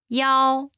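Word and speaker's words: 幺: reason the pronunciation of the number one is similar to the pronunciation of the number seven this could be confusing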